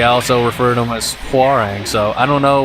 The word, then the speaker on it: Hwoarang: uh hang I think the technical pronunciation is farang but uh for whatever reason the uh just the game itself in this one in particular I mean like they say how wrong whenever you pick them